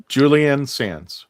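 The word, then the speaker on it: Julian Sands: Julianne Sans. Julianne Sans I think I think it's unisex.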